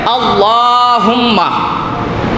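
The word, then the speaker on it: اللهم: আল্লাহ, এই আল্লাহ শব্দের আগে যদি জবর থাকে, বুঝে নিয়েন, আল্লাহ শব্দের আগে জবর যদি থাকে, তাইলে মুখটারে পুর কইরা, মোটা কইরা আল্লাহ শব্দটা উচ্চারণ করা লাগে। যদি কেউ বারেক কইরা পড়ে, মানে পাতলা কইরা পড়ে, তাইলে গুনাহ হবে।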